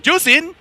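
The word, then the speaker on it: Zhuxin: I have to talk about is juicin ju juicin is not playable in MC 2024 and that's how it's pronounced guys okay how you pronounce zask it's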